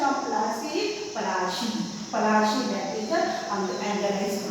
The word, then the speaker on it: Palashi: Now children, here the spelling of Plassey is Plassey, but as per the anglicized pronunciation, it is Palashi. It is the anglicized pronunciation. It is the Palashi.